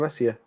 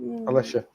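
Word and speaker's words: Alessia: I thought I'd say more of Allesia, but either way, I think it's more of Alicia. Alicia.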